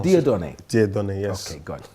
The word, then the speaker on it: Dieudonne: name yeah my name is quite difficult to pronounce de Don de Don yes okay good so you have